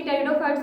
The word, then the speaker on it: pteridophyte: देखो, टेरिडोफाइट की जो स्पेलिंग होती है उसके अंदर पी क्या रहता है, साइलेंट रहता है, ठीक है, तो इसलिए इसको बोलते हैं टेरिडोफाइट।